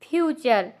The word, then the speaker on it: future: तो यहाँ पर जहाँ पर TURE होगा वहाँ पर टी का उच्चारण, टी का प्रोनाउंसिएशन चर होगा।